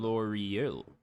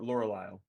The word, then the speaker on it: Lorelei: L'Oreal, No, that's not how you pronounce it. It's Lor, Laurel, Lorelei.